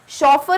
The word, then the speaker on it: chauffeur: शॉफर इज the word और right spelling है option number B, CHAUFFEUR, नॉट FEAR, fear वाला.